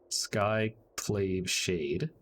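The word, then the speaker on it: Skyclave Shade: skyclave should get well i can't say that sky played shade is how you say that and then that gives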